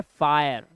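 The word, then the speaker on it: fire: हमारा rule number 26 जब किसी वर्ड में आई के बाद आर ई आए तो आई को आय पढ़ते हैं क्या पढ़ते हैं आय अब इसे आई नहीं पढ़ना है आय पढ़ना है आय जैसे ये देखो यह है फायर क्या है फायर हायर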